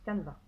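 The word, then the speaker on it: Canva: sur sur canevas canada comme ça se prononce kahn va créer un design ligne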